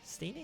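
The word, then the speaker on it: Steenee: Steenie is how you pronounce it on my team in this playthrough, but I did not.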